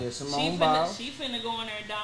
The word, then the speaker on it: Simone Biles: Yeah, Simone Biles.